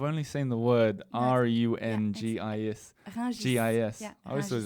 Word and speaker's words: Rungis: Is that how you pronounce it? I've only seen the word Rungis. Rungis. Yeah, I always thought it was Rungus.